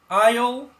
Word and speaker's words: aisle: it makes a difference aisle is a noun and the S is a silent letter you don't pronounce it for example when John